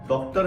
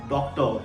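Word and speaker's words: doctor: सी टी ओ आर आर से एंड हो रहा है डॉक्टर नहीं बोलना है डॉक्टर ही इज अ डॉक्टर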